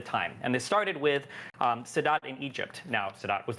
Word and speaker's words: Sadat: Am I pronouncing Sadat? Anwar Sadat?